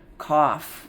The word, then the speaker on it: cough: Cough. There. I hear that F again.